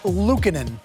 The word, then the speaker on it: Luukkonen: Luukkonen.